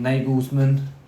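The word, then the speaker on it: Nagelsmann: but they've now got a younger manager in nagles manman is how you say it um he done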